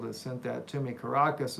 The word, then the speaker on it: Caracas: Caracas is how you say it, not carcass. They're not dead.